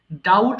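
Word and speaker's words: doubt: করা ডাবল ডাবলড ডাবলড ডাউট সন্দেহ করা এখানে বি এর উচ্চারণটা হবে না অর্থাৎ ডাউটড হবে না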